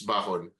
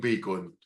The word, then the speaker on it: Bacon: And you say it's Bakon. So, you type it, they don't hear it na it's Bakon. So, when they see it's spelled as bacon. So, a lot of people, when I meet them in person, talagang bacon. Bacon, hi Bacon.